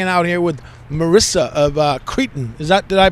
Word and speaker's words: Cretin: This is the Mighty Z of Capital Chaos TV, and we're hanging out here with Marissa of Cretin. Did I pronounce it correctly?